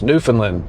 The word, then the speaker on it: Newfoundland: I call it Newfoundland. He calls it something else. Newfoundland. That's the way they pronounce it.